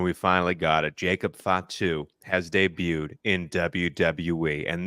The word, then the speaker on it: Fatu: know some about Jacob Fatu to be honest I mispronounced his name when we originally talk about him uh call him fat Fatu so like That's how